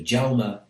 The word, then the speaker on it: Jaume: So her sound at the end of Jaume is Jaume, not Jaume.